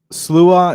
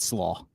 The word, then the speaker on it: Sluagh: is it volume one the name of the SLA is how it's supposed to be pronounced right but when we used it as a band name we just said SLO SLO right so so sler or SLO volume